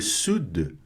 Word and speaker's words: sud: Quelle mer quer dizer qual mar, quelle mer, qual mar, borde faz a borda, le sud, né? Borda o sul, le sud, tem que pronunciar esse D mudo aqui, hein?